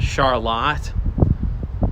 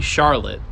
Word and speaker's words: Charlotte: for instance in Michigan there's a town called Charlotte and you know anywhere else it'd be Charlotte but you know you just gotta know your pronunciations a lot of times